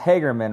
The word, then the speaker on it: Hagerman: It's pronounced Hagerman, right?